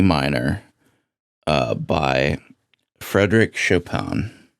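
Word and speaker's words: Chopin: minor uh by Frederick Shopan. Oh, that's how you pronounce it. Chapan.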